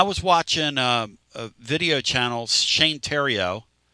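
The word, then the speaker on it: Theriot: But I was watching a video channel, Shane Terrio, spelled like The Riot.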